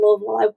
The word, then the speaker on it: Louisville: and chelsea atkins how you spent time in louisville i was raised there and uh you said